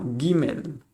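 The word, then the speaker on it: גימל: Gimel se pronuncia G. Gimel, G. ¿Vale? Es una G, no una C, ¿eh? ¿Vale? A, B, C, no, la G aquí en hebreo, ¿eh?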